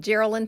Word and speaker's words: Geralin: Hello, I'm Geralin. My first name, Geralin, rhymes with the names Carolyn and Marilyn, but it's Geralin with a G.